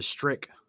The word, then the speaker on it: Strick: I want to say they're the Strick ones. Apparently, I've been saying Stritch wrong this entire time. It's Strick. Strick. It's spelled like Stritch, but it's pronounced They should Strick.